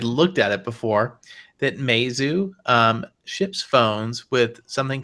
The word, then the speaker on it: Meizu: Is that the pronunciation, David? Yes, Meizu is, I think, the correct pronunciation.